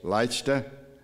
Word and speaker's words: Leicester: I pronounce it Leicester, Massachusetts. Is that correct, Gary? Is that even close? Leicester, Massachusetts.